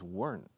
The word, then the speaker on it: weren't: If it weren't raining, otra vez la pronunciación de weren't is weren't. Es una sola sílaba. Si cuando lo ves weren't. Pero cuando hablas, dices weren't.